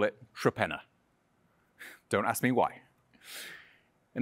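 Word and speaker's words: Torpenhow: yet as I said in good English fashion the pronunciation is nothing like the spelling the locals would actually call it tropena don't ask me why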